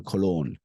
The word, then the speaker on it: cologne: at the sound symbols cologne okay colog listen and repeat with me clog the G is uh silent it's not colog it's C cologne it's not even cologne cologne all right cologne